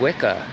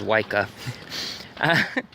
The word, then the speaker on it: Wicca: whatever and it said Wicca and I was like laughs I didn't even pronounce it right I said yka and so I'm over